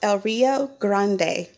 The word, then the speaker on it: El Rio Grande: um it's called el rio grande gran it's pronounced el rio grande so i got all this stuff plus this